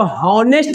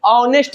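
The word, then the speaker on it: honest: तो यहां पे बताओ तो इसको हनेस्ट मैन बोलेंगे कि ऑनेस्ट मैन एच गायब हो गया तो यहां पे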